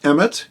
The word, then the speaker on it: Emet: the word truth there is a Hebrew word Emet eme T it's spelled Aleph mem and Tov and it literally